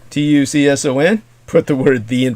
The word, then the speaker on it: Tucson: T information contact the Tucson murders. comom that spelled like tuxen Tu CS o n put the word the in front of it the Tucson murders.